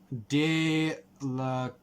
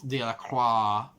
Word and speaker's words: Delacroix: Delacroix. There's an X in there, which I'm like, I guess the X is silent, so it's Delacroix.